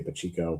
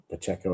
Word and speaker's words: Pacheco: I live in Portuguese neighborhood where we say Pacheco, but Pacheco, I think is how you say it.